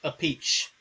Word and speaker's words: Appice: I think that somebody said that it's actually pronounced a peach.